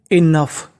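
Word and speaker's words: enough: यू जी एच को पढ़ना है हमें फ। क्या पढ़ना है? तो meaning money इनफ इ एन ओ यू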